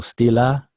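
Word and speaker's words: stela: That's the official pronunciation of the plural form steely. And here's the singular form. Stila. So Stila is singular. Still is plural. Here it is once again. Stila. Stila. Singular. Steely. Steely is plural.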